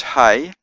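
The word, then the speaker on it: ה: all sort of connected the fifth letter is ha and it's got a h sound like the letter H ha ha as in ha sixth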